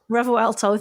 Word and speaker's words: Revuelto: I never say it right Revol re revuelto revuelto thank you 68,500 so you could buy two